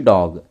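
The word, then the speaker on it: dog: तो डॉग में भी देखा जाए तो हिंदी में जब हम उसको प्रोनाउंस करते हैं तो आ की मात्रा थोड़ी जुड़ जाती है। प्रोनाउंस करने के लिए यह थोड़ा सा डिफरेंस होता है।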